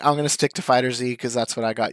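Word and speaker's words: FighterZ: Or Fighters, however you want to pronounce it. I've always pronounced it Fighter Z, and I'm going to keep pronouncing it that way. Even though Fighters is actually accurate. When Bandai Namco themselves present it, they're like, the newest season of Fighters. So it's canonically it's Fighters, but I'm going to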